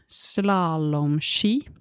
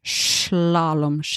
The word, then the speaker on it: slalom: skis that you wear slalom or slalom, you can pronounce the s as sh or s. You choose schlalom or slalom. It's the same thing.